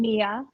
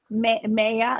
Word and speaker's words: Maya: But that gets butchered too at Starbucks. I mean, I've been Mia. I have been Maja. Like Maya.